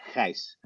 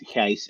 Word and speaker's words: Gijs: But if you want to do it in Dutch or Dutch sounding, that it's Gijs. And actually, we have even in our own country, we have two different ways of pronouncing, which is Gijs and Gijs.